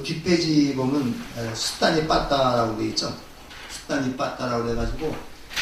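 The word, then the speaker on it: Sutta Nipāta: 그래서 이걸 번역하면 경집 이렇게 번역을 하는데 숫다 니빠따라고 읽어야 되죠.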